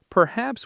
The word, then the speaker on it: perhaps: Perhaps we could meet halfway. Perhaps we could meet halfway. Stress is on haps in perhaps and half in halfway.